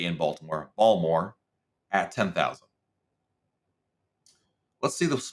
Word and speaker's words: Baltimore: 12 I just told my daughter how to pronounce balmore correctly this morning I only know that from